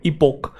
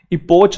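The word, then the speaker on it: epoch: इपोक, इपोच नहीं है ये, इसमें बच्चों को कंफ्यूजन रहती है च और क के अंदर, तो हम साथ साथ देखते चलेंगे वो शब्द जिनमें दिक्कत है स्टूडेंट्स को।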